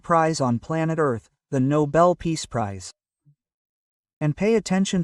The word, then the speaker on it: Nobel: The Nobel Peace Prize. And pay attention to the pronunciation there. In Sweden, it's Nobel. Nobel is an English pronunciation, but there in Sweden, the language is Swedish, right?